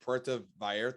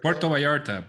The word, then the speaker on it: Puerto Vallarta: was i what how what how do you pronounce it puerto vallarta puerto vallarta puerto vallarta yeah that is a very humid